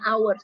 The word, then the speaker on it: hours: Bacanya hours ya. Jadi hanya nggak dibaca.